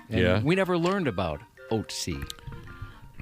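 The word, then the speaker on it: Ötzi: He says the mummy is the pronunciation of its name is oats, not oatsai. He learned about this uh some back in in high school.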